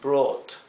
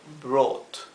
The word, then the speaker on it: brought: Fíjense que brought en inglés se pronuncia como una O larga, brought. Por eso lo he escrito aquí la fonética en verde, B-R-O-O-T, con una doble O, brought.